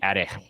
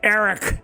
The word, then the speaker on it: Errich: I was to say like a Welsh person it would be Eric okay that's horrible to say on a microphone so Eric is what is what we're gonna go with I'll say it like American Eric there we go so